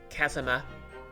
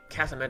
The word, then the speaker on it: Kazuma: Isn't a long U the oo sound? Oh yeah, short U's the sound, isn't it? Kazuma. Okay, Kazuma does sound right.